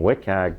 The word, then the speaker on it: WCAG: So if that's not meeting WCAG that's how you say it doesn't meet accessibility.